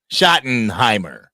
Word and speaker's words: Schottenheimer: Pronounce his name. Schottenheimer.